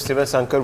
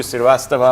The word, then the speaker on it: Sasanka: my surname most so I called myself sasanka which is what exactly I am in the north I can't pronounce sasanka they used to call you sastava all sorts of things so I said let